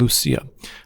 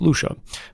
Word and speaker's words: Lucia: One of my daughters, for instance, is named Lucia, which her name can also be pronounced Lucia.